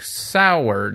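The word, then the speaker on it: Saward: and written by Eric sard I never know how to say it's cord I want to say cord but there's A's in there say sour doesn't matter some strange business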